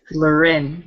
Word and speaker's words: Lauren: your pain D okay hold on luren nice to meet you okay we got to phonetically put this out there because one you're making me y'all both making me look it feels stupid oh don't feel stupid everybody does it like everybody it's it's spelled just like Lauren so it's yeah obvious